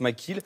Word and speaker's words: McKelle: extrait de robbing makila lorsque j'écris mackay qu'à eux deux et le mais ça se prononce mcgill qui est même vous